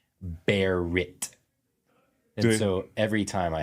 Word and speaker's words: Barrett: or a coffee shop it is either Garrett or Gary okay or Barry it's never Barrett unless I say Barett and so every time